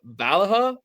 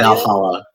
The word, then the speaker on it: Valhalla: Valaha Valley Valhalla.